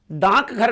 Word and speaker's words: डाकघर: अगर आपसे कोई पूछे ना कि डाक घर जा रहे हो, तो आप जल्दी से डाक घर नहीं बोलते, आप बोलते हैं डाकघर।